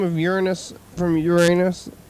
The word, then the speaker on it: Uranus: name of Uranus from Uranus like recently after everybody was making jokes about it and stuff has it always been like that the pronunciation the correct pronunciation is Urus we still got the